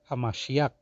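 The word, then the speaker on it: המשיח: it's not like that you have to say it is actually hamashiach that's how you say it in Hebrew tongue all right now when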